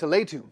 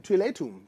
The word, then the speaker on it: Teotihuacan: I think it's Teotihuacan. Teotihuacan.